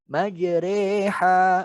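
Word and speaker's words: مَجْرٰىهَا: Oke, hanya satu yaitu pada surat Hud bacanya majre. Ja-nya jangan majre, jangan gitu ya. Majreha, majreha, jaji jubaje. Jadi jangan jaji jubaje, beda.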